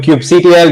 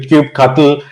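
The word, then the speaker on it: kubectl: what is the favored way to sort of pronounce it do you do Cube CTL do you do Cube cutle r c Ru actually goes all out and says Cube control I think which which I think was like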